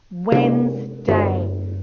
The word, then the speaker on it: Wednesday: this breakdown of syllables it goes when you say it it goes wednesday can you see i've broken it into three syllables there it has two wednesday when you say it but when you spell it you go like this wed ness day if you do it